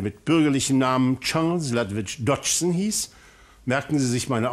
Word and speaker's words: Dodgson: lewiis Caroll der mit bürgerlichen Namen Charles ladwit Dodson hieß merken Sie sich meine Aussprache verhrte zu sehr die meisten der vielen